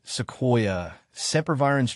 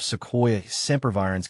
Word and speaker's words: Sequoia sempervirens: Breaking it down, Sequoia starts with a soft sound, followed by KWY, and sempervirens is pronounced with emphasis on the VY.